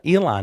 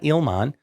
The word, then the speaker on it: Ilhan: It's Ilhan Omar. Ilhan, not Ilman.